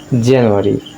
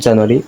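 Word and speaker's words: January: ঠিক আছে, আমরা মনে রাখবো যে ভাওয়েল এবং সেমিভাওয়েলের পূর্বে যদি আর থাকে তো অবশ্যই ওই আর এর উচ্চারণটি হবে। তাই সঠিক উচ্চারণ হচ্ছে জানুয়ারি, নট জানুয়ারি, it will be জানুয়ারি জানুয়ারি জানুয়ারি, J sound, জানুয়ারি।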